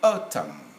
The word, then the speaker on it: autumn: english they would say autumn m is audible n is silent danny not damn like